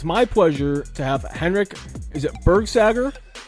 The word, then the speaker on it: Henrik: I'm your host, Thomas Wording, and it's my pleasure to have Henrik, is it Bergsager? It's Bergsager. Good pronunciation.